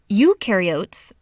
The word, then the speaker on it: eukaryotes: mitochondria and Golgi apparatus eukaryotes the you rhymes with do they do have membrane